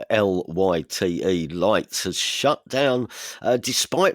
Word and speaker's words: Lyt: now shutting down and finally ticketing company lights that's spelled lyt lights has shut down uh despite receiving $53 Million